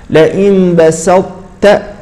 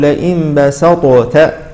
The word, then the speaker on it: لئن بسطت: التاء نعم مثال اخير لئن بسطت لئن بسطت هكذا تنطق هذه الطاء ولا نقول لئ بسطت لئن بسطت هذا خطا نقول لئن بسطت هكذا